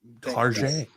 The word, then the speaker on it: Target: Target.